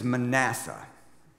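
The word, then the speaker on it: Manasseh: survive the current king his name is manassa emphasis on the middle syllable there he is a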